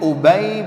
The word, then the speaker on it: Ubay: Bukan bacanya Abi. Nah. Ubay bin Ka'ab.